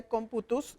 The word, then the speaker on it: computus: La definición de cuento en latín se pronuncia computus y que significa cuenta.